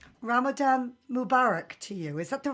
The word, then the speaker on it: Ramadan Mubarak: it is uh the right way to say ramzan mubarak it's a it's a great thing it's great